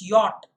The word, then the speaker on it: yacht: It's yacht. Y-A-C-H-T is yacht. Now, be honest in the comments if you, I'm sure that you knew that the word, but the pronunciation is yacht. It's not yacht, it's yacht.